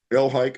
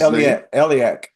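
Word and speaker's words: Elhaik: by the name of ran elik I think is his elak elak okay all right well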